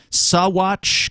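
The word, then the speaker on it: Saguache: in a place called sawwatch county colorado it's a strange word it's spelled s-a-g-u-a-c-h-e i guess you don't pronounce the g uh in that uh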